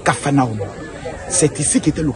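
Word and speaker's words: Kfar Nahum: parle de café Nam quand on parle de la vraie prononciation c'est Kafana c'est ici qui était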